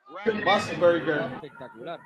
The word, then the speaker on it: Musburger: That's Brett Musburger, but Brett Musburger. Am I right? Am I right for the pronunciation? Yeah. Musburger.